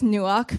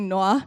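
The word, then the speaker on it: נוח: And in the Hebrew, it's pronounced, you say as nuach, but it's actually noah.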